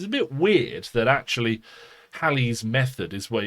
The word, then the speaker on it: Halley: it gets really complicated hallie sometimes pronounced haley i'm going to call the physicist halle from from now on rather than haley although i believe both pronunciations are acceptable um is credited with